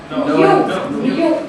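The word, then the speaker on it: knew: New. Pronounce it new. K-N-E-W. K-N-E-W. You pronounce it new, like new.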